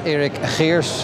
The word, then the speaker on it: Eric Harris: time my name is Eric Harris and the way I pronounce it is not really Swedish but it is actually Dutch but uh I hope